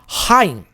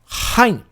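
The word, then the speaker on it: חיים: O Het, ele vai ser 2 vezes o som do Re. Então, você vai ter, por exemplo, Haim. Haim. Então, é esse o som.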